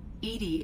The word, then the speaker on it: EDI: why are you named Edie Edie is the phonetic pronunciation of EDI that is an acronym for enhanced defense intelligence hey Bill here